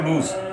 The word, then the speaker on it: lose: তাহলে সাবজেক্ট করার ভার্ব এই লস্ট কোথেকে আসছে? লস্ট আসছে এখান থেকে, লুজ LOSE, লুজ, লস্ট, লস্ট। তোমরা এই শব্দটা লস বলিও না, এটা অনেকে নিম্ন ক্লাসে লস বলে, এটা উচ্চারণ হচ্ছে লুজ, লুজ, লস্ট, লস্ট।